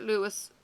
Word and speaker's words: Louis: of the greatest films of all time Robert Louis Stevenson the author of Treasure Island kidnapped and Jekyll and Hyde was born Robert Louis Belfort Stevenson at age 18 he dropped the